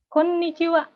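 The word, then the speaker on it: こんにちは: Ini ada n-nya, jadi ditekan. Konnichiwa. Gitu. Itu selamat siang atau sore. Jadi dari jam 12 siang sampai matahari terbenam. Mereka nggak ada selamat sore, mereka pakainya konnichiwa aja sampai matahari terbenam.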